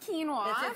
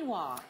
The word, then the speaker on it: quinoa: to do something called quinoa I love it's pronounced quinoa you thought it was pona qua Canoa K quinoa okay yeah so we are eating for spring